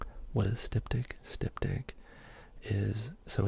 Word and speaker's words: styptic: What is styptic?